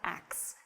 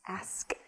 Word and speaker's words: ask: It's not ax. It's ask. Ask.